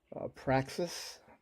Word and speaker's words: Praxis: I'm going to use this 23 thousandths, and I'm always saying it wrong. Praxis, not like practice, but Praxis set.